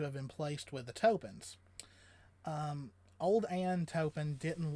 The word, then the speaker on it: Toppan: she was fostered out as an indentured servant to a widow named ann tobin now and the last name is pronounced topen topan i like tobin better i think topan kind